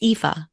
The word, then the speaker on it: Aoife: I've been saying, even after you pronounced it, I said Aoife. It's Aoife. Yeah, that's okay.